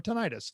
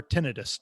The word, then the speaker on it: tinnitus: But serious talk, I suffer badly from tinnitus or tinnitus, depending on who's pronouncing it.